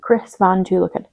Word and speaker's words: Chris Van Tulleken: thank you boy, is Ultra Processed People by Chris Van Tulleken. Yes, you pronounced that correctly.